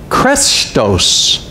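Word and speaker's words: chrestos: The one translated easy is the word krestos. We would spell it C-H-R-E-S-T-O-S.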